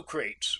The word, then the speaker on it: Crates: So Crates rhymes with Bates for me.